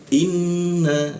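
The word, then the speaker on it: إِنَّ: Nah, jadi bacanya inna. Masuk ke nun bertasydid ini warnanya magenta ya. Setiap tanda nun bertasydid itu ditahan. Nah, setiap warna magenta itu tasydidnya ditahan 2 ketukan. Inna seperti itu.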